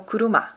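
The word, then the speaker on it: 車: Só que tem outra pronúncia no japonês, que é o kuruma, né?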